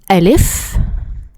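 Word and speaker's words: ألف: The first letter is al if and this is the name of the letter and it sound it sounds like a long a like a long a like the a in apple.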